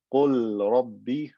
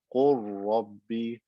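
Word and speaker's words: قل رب: So instead of saying qul rabbi, I say qur rabbi, qur rabbi. I merge the lam into the ra and it becomes one ra with shadda. Qur rabbi.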